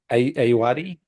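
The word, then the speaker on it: Ayoade: Yeah, We've we're got gonna watch Richard Aoudi. How do you say his name? Ayuwadi.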